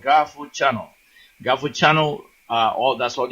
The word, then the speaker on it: GAHFU: Request to be our friend, Garifuna Language and Culture Academy, under Gafu Garifuna. Gafu is spelled G-A-H-F-U.